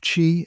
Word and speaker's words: qi: At the heart of this map is the concept ofqi, pronouncedqi. Think of chi as the vital life force, the breath of